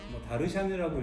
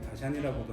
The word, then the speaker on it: Darshan: 다르샨이라고 읽어도 되고 다샨이라고도 하는데, 이 브랜드를 오늘은 좀 소개를 시켜드리려고 합니다.